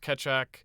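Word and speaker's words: Keccak: ethereum even uses it it's k-e-c-c-a-k i think it's pronounced ketchup i believe okay uh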